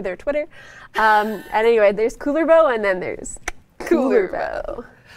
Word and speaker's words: Kullervo: it's linking to their Twitter um anyway there's cooler bow and then there's cooler though I love it phenomenal we'll never forget how to pronounce cooler bow yeah with art like this I know I